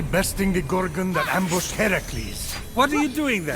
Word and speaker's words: Heracles: So, Fenyx, after boldly besting the Gorgon that ambushed Heracles, What are you doing there, that thing with your voice. Heracles? Yeah, that. That is how it's supposed to be pronounced.